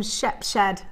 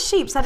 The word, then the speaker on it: Shepshed: to go to Shep no it's not sheep said it says s h e p h e d you've got a feeling